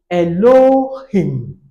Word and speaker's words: Elohim: So, if I'm to pronounce this word, I'll call it elohim. Elohim. Hello him. So I raise my voice towards the last syllable.